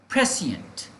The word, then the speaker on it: prescient: तो प्रोनाउंसिएशन अगर हम इसका ध्यान से सुने तो देखिए प्रोनाउंसिएशन इसका है प्रेसिएंट।